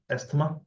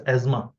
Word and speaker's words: asthma: seen a cases of esma or Asma to be correct you have to pronounce this word as Asma okay it is not as written as as Asma so in